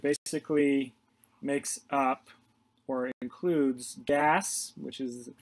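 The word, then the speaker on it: GAAS: standards and it basically makes up or includes gas which is how the that acronym acronym is pronounced which is the generally accepted auditing standards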